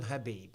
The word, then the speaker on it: Khabib: Got to call him Habib. That's how you pronounce it.